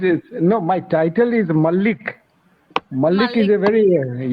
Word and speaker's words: Mallik: other day to Pankasha, what is the correct pronunciation? I only say Malaji. No, no, no. It is no. My title is Mallik.